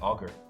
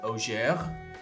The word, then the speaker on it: augur: Like augur. Like augury in RuneScape.